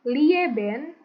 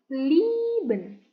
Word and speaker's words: lieben: Yang ketiga, I e dibacanya i tapi agak panjang. Contohnya bukan lieben tapi liben gitu.